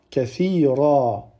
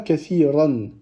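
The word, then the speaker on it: كثيرا: Donc on dira kathira, kathira. On ne dit pas kathiran. D'accord? On ne prononce pas le tanwin si on s'arrête sur ce mot-là.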